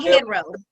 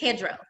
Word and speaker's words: Hedro: I used to call him Headro, but it's Hedro.